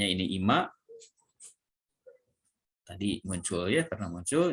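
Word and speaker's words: 今: Jadi ini dibacanya ini Ima.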